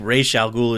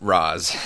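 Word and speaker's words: Ra's al Ghul: in it you've got roz slash race al ghul i think rey chalgool is the proper pronunciation yeah i've always said raz yeah they call him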